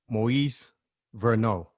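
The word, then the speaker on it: Moïse Verneau: i was like wait that sounds like a french name and it was um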